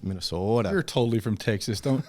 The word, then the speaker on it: Minnesota: Well, if you want to say it like from people from Minnesota, it's Minnesota.